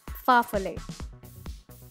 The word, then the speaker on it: farfalle: its actual name is farfalle pasta it is pronounced as farfalle so let's move on to the next so